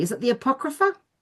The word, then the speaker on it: Apocrypha: Is it the Apocrypha?